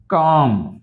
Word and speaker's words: calm: Cough, calm. Half అనకూడదు, half. Walk, bark. ఇక్కడ first చూడండి, talk, folk, salmon, kernel, cough, calm, half, walk, bark. So in these all the words L is silent.